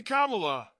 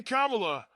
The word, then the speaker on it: Kamala: and by the way there are numerous ways of saying her name they were explaining to me you can say Kamala you can say Kamala I said don't worry